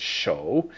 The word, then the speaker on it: 手: because it's a Mughal we know it's the third tone so it's show and then of course